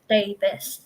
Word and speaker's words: Davies: last name um as davis and it's not or davies and they get confused and it's saying it's spelt like d-a-b-i-e-s but it's pronounced as davis not david so things like that